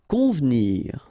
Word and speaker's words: convenir: Convenir. Okay, so the E here is not really pronounced, so first you've got this nasal, on, convenir, convenir.